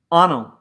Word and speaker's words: Anil: Anil, like tunnel.